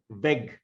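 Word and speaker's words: weg: you remember that yeah the two words uh they're vague pronounced with the long a they're vague the same spelling but a capital w their vague is the way is the path the way and the adverb veg pronounced with a very short vowel veg is a way um that is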